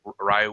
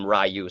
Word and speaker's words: Ryu: action movie because that's where everybody called him Rayu. So, that's where I learned Rayu. Okay. But whenever it's any other um series uh I say Ryu which is the supposed to be the pro